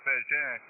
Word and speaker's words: Bégin: Of course, in French it's Bégin.